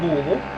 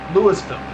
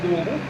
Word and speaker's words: Louisville: here it is guys we're in louisville or louisville or louisville or louisville usually there's many ways uh you can pronounce it just don't call it like month don't be don't be in egypt and call it lewisville there is a good